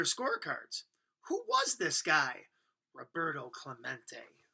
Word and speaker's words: Roberto Clemente: bat he heard the announcer stumbled through his Spanish named Rob ro Bert um let's see toe clue mate it echoed in the near empty stands Roberto Clemente was his name and this is pronounced Roberto Clemente as if to introduce